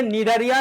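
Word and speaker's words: Cnidaria: আমার কথা শোনো দেখো এই নিডারিয়ার বানানটা কেমন হয় জানো সি এন আই সি এন আই ডি এ আর আই এ নিডারিয়া ঠিক আছে ওকে অপরদিকে এই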